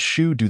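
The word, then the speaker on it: 成都: i n the Shu dialect chingu is pronounced as Shu do the ter term Chong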